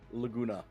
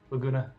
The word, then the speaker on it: Laguna: How do you pronounce his name? Laguna. Laguna.